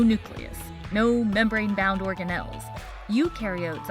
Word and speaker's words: eukaryotes: no membrane bound organelles eukaryotes on the other hand remember you rhymes with duke and other membrane-bound organelles